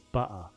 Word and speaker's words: butter: If I say it how I normally say it, there's no consonants at all. It's butter.